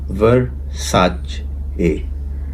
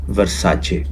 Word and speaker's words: Versace: तो उसने लिखा है VERSACE को आप इस तरह बोल सकते हैं, वर्साचे, यानी सादा अल्फाज में हम इसको कह सकते हैं कि आप इसको बोलेंगे वर्साचे, वर्साचे। तो ये इसकी प्रॉपर प्रोनाउंसिएशन है।